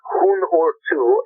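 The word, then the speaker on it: Huun-Huur-Tu: The one band is called Hun Urtu, and it's spelled HUNHURTU.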